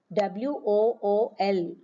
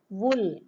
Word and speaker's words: wool: the ninth one is w o o l wool usually we pronounce it as wool longer sound students but it is actually a shorter sound shorter U so this is the